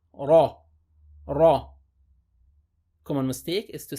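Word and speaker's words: رَ: with a fat hat on top so we pronounce it heavy so we say raw raw common mistake is to say today red that is wrong the correct pronunciation remember is to see raw raw raw first line sir the raw say bear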